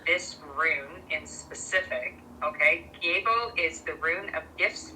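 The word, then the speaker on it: Gebo: Pronunciation, Gabo. Letter sound, G, as in gift.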